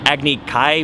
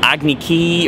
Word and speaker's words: Agni Kai: They have this battle that they're supposed to have called an Agni Kai, which is probably the way it's actually supposed to be pronounced in Chinese. Right. And they pronounce it Agni Ki, or like a lot of it.